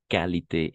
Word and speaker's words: qualité: Ah, ici, et on va prononcer qualité et quantité. On prononce le U.